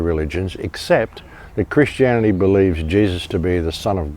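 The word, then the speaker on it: Jesús: their name is actually Jesus because the J is pronounced as an H so it's Jesus is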